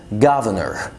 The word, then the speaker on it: governor: كلمات تانية زي كلمة governor، هنا في ار في الاخر خالص يبقى هنشيل الار اللي في النص، حاكم governor.